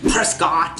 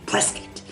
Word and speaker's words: Prescott: the town's name correctly I said Prescott in the video and it needs to be plus it you know it's not